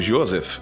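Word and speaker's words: יוסף: hebraico com o nome José José pronunciado Josef em hebraico vem do verbo hebraico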